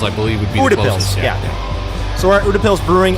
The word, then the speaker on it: Utepils: look at it is it ends with pills okay yeah the beer